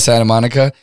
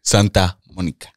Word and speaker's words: Santa Monica: fun fact though ellie people don't pronounce the t santa monica santa monica santa monica